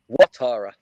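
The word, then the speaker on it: Ouattara: So, Alara, how is it pronounced? Watara. Watara.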